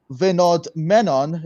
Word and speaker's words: Vinodh Menon: Thank you all so much for listening to this amazing podcast, and thank you very much, Vinodh Menon.